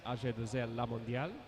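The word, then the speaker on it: AG2R La Mondiale: road team for 2026 or depending on how French you'd like to pronounce it. Decathlon Ajel Lamondial.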